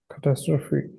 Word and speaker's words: catastrophe: So where's the stress? Has. Yeah, on the second syllable. It means disaster, and the stress is on tas.